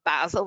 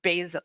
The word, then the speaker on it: basil: Is it basil? No, it's not basil, it's basil.